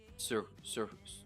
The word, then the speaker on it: Surcouf: Surcouf. Circu? Circu? Do you pronounce the F or no? Yeah. You do.